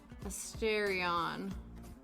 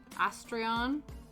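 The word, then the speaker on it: Astarion: Then we're gonna go and check out Asterion. Yeah, Asterion. Astrion. However you pronounce his fine self. First way was right.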